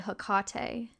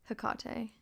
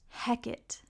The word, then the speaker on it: Hecate: heard a lot of people say hakate the worst pronunciation I've ever heard was one time I was in um I was in a Shakespeare play and the lead of the play had to say her name because Shakespeare loves witchcraft and he was like saying his line or whatever and he said heck it and I said